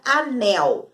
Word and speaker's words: anel: A sílaba tônica, a sílaba mais forte aí, na palavra anel, nel. E na palavra chapéu, pel.